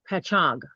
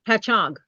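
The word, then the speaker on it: Patchogue: Patchog is the way it says to pronounce it. I don't know if that's right. Is that how you pronounce it? Yeah. Patchog. Patchog.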